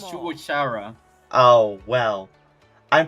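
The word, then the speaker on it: Shugo Chara: You just mentioned Shugo Cara earlier. Oh, it's Oh, because you're you're pronouncing it wrong. It's Shuara.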